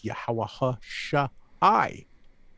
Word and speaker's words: Yahawashi: But we have an I here, so we know it's Yahawashi. That's the correct way to say the name.